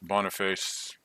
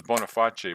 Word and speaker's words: Boniface: I always thought it was Boniface, but then I realized in this little text here that he is from England. So I don't think you pronounce it as if it's Italian. So I think it just is Boniface.